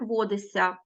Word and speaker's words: водишся: як кусаються так само водишся вимовляємо і чуємо як водися до речі ось тут